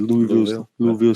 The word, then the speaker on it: Louisville: Louisville Slugger.